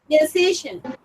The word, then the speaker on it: musician: dress go um that that words that word has three syllables and the the stress syllable is C you see the middle the one in the middle in the middle yes and so sounds like um sounds like director good very good now